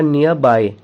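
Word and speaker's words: nearby: देखिए इसका प्रोनाउंसिएशन होगा नियर बाय, आर यहाँ पर साइलेंट रहता है।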